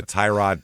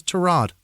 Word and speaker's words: Tyrod: Two I just recently found out his pronunciation is Trod, is it? Did you know that? I didn't know that. It looks like Tyrod. Ty is Tai. Yeah. Ti is Trod. Spell it different. Don't ask me to pronounce after an auto part.